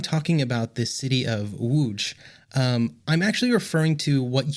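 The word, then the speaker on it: Łódź: laws or loads or Lodge or however else you might pronounce the letters l-o-d-z uh in English that's not how it's pronounced in Poland so I'm going to go with the Polish pronunciation which hopefully I'm pretty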